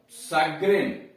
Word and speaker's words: chagrin: Rule number 4, कुछ शब्दों में CH का उच्चारण स होता है, बड़ा वाला स। कुछ शब्दों में CH का उच्चारण स होता है, बड़ा वाला स होता है। जैसे CHAGRIN सग्रिन, CHAGRIN सग्रिन चिड़।